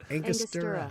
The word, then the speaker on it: Angostura: I typed pronounce Angostura, and it's like Angostura.